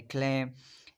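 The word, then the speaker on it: climb: और दूसरा है खम, इसमें भी जो बी है वो साइलेंट है, जैसे कि थम है उसमें भी साइलेंट है, जैसे क्लेम।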